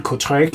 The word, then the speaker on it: Kortrijk: made it to, which was in Belgium, in Kortrijk. Is that right? Is that how you pronounce it?